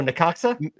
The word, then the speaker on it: Necaxa: pronounce that name? Necaxa. Oh, Necaxa?